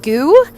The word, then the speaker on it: Gu: And we also practiced eating goo. That's spelled GU.